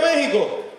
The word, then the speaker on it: México: ¿Que vive México? ¿Con X o con J? Las dos están correctas. ¿Quién dijo eso? Eso. Se escribe con X, se pronuncia con J, lo puedes escribir también